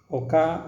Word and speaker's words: Hoka: hoka one one ini ingat ya bacanya ini adalah hoka one one Jadi bukan hoka one one supaya kita agak gaul gitu loh jadi harus tahu kalau bacanya ini adalah Oka oleh-oleh yang untuk seri